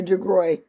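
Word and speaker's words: DeGruy: on there i put dr degroy i hope that's how you say her name dr degroy g-r-u-y it's like french it's d-e-g-r-u-y her first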